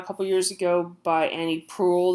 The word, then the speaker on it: Proulx: It just came out a couple years ago by Annie Proulx. There's an X at the end of her name that isn't pronounced.